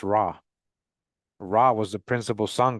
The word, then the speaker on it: Ra: the symbol and it sound as R pronounced raw raw was the principal